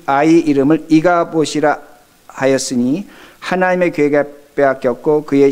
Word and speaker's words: 이가봇: 그래서 발음을 잘못하면 이가복 이렇게 들리는데, 이가봇이란 그 의미는, 이는 히브리어로 엘이라는 의미인데, 어디에, 어떻게, 무슨 일인가 하는 그 질문형입니다.